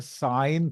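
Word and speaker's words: sine: एस आ ए य सिन नहीं होता इसको प्रोनाउंस करते हैं इसको बोलते हैं साइन theta so साइन theta cos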